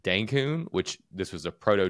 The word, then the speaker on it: Dencun: Cancun and denb also Denon rhymes with dankun which this was a